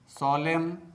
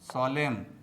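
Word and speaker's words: solemn: You repeat after me. Autumn autumn कॉलम कॉलम सोलेम सोलेम कंडेम कंडेम हिम हिम डैम डैम लिम लिम तो दोस्तों आपको भी साइलेंट letter N से बने शब्दों का इसी प्रकार से प्रोनाउंसिएशन करना चाहिए।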